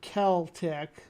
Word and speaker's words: Celtic: actually John's John's disagreeing John saying Celtic ringus Sayan keltic which I've seen it with the k um when I look